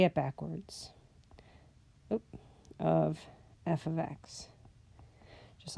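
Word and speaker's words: f(x): That's how you say it. It's f of x. It looks like f x, but it's f of x.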